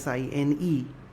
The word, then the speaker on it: sine: The full name is written as SINE, pronounced as sine alpha.